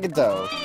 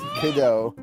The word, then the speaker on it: Godot: It's not Godot. It's not fucking waiting on... It's Godot.